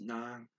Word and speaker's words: ng: there is the non-phrase so ng but it's pronounced non which is the object of the sentence and